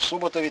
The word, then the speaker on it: Суботів: іншого боку церква в Суботові тепер ми знаємо що наголос на перший склад і з цього приводу